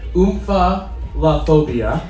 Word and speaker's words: omphalophobia: And Joshua, your pronunciation is incorrect. It's omphalophobia. So omphalophobia.